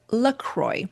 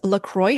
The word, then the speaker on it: LaCroix: this brand infamous, is LaCroix. I think in French it's pronounced La Croix.